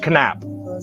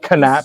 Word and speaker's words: Knapp: no no he's George George Knapp or probably George Knapp but canap it's spelled k-n-a-p-p George Knapp he's he's